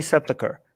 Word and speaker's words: Sepulchre: The Church of the Holy Sepulchre, right? You see that in the... Yes, that's how you say it.